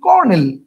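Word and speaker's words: colonel: কলোনিল উচ্চারণ করলে আমরা আমরা তো আর কলোনিল উচ্চারণ করি না সবচেয়ে বড় কথা হচ্ছে এটা আমরা উচ্চারণ করি কি আমরা উচ্চারণ করি কর্নেল আমরা উচ্চারণ করিল তার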